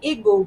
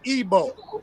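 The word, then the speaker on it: Igbo: you know the the name got changed the pronunciation of it got changed when the colonizers came over there and now we say igu but it was really Eber or AB something like that it's really ebo like like like the pronunciation right the I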